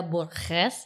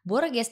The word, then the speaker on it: Borges: Pengucapan Amanda Borghes. Jadi tulisannya Borges, tapi bukan Borges dibacanya, tapi Borghes.